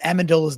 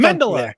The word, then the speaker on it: Amendola: how did you pronounce amendola's name you said something to mandelier like mental bomb I'm like what the hell how did he just say so Amendola right I was like wait